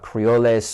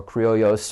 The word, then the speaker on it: Creoles: below them you have there's numerous pronunciations we're going to go with Creoles or Creoles or Creoles there's three different pronunciations but basically people of